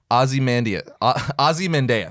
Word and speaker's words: Ozymandias: That's how they say it in the show. That's how I'm going to say it. Ozymandias.